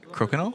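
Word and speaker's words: crokinole: You said you uh you played was it how do you pronounce it? Cool or croc. Uh crokenol.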